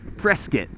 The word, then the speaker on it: Prescott: I mentioned it but we are in Prescott Arizona right now or as the locals say press kit this is believe it